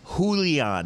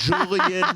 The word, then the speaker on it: Julian: So I'm just saying, it's Julian, not Julian, not Julian. It's Julian.